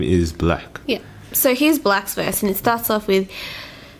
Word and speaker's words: 6LACK: its black right it's I think it's pronounced black um but it's spelled the number 6 L ACK but I'm sure it's black yeah because I think